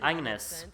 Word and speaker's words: Agnese: You pronounce it Agnes, but it says Agnese, so I thought it was Agnese, but I guess you just said Agnes.